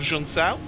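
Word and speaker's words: Junção: our producer hugo luis who uh corrected my pronunciation of jean-cell as we go up the hill it's important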